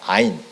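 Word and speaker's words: עין: 여기서 주목할 것이 있습니다 히브리어로 샘 히브리어로 샘이 아인입니다 아인 그런데 눈 사람의 눈도 아인입니다 발음이 똑같습니다 이것은 일종의 언어 유라고 합니다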